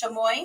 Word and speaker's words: chamoy: But anyways, so you rim your shot glass, or I guess you can make it a drink with chamoy.